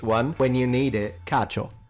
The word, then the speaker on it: cacio: Cacio. The C here is pronounced like CH, cacio, which means and in Italian.